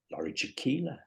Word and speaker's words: Jakiela: So today I'm delighted to be joined by Laurie Jakiela. Rhymes with tequila.